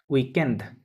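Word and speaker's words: week-end: বলে উইকেন্ড কি বলে উইকেন্ড ডি সহ উচ্চারণ হবে একটু পাতলা করে উচ্চারণটা হবে একটু সফটলি আর কি উইকেন্ড এরকমভাবে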